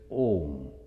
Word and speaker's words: Om: And to pronounce for the Westerners who never heard, they don't know how to pronounce, they say almost like home, this Om.